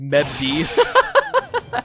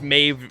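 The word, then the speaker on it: Medb: you oh no dude for the longest time i just said medv but i i believe it's maeve right i i think it's maeve you pronounce it like a with a v the bd is like a v maeve because turn out the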